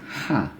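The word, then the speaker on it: ح: Yang ini ha. Ya, jadi lebih sederhana, biasanya orang lebih kenal mengucapkannya ha pedas ya. Ya, ha kecil ya, ha. Jadi ada sedikit desirnya, ha.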